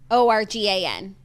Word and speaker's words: Oregon: said to say it like, your liver. Oregon. Organ.